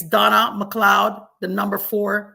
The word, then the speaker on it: McLeod: CLE e o d it's pronounced McLoud but MC EOD D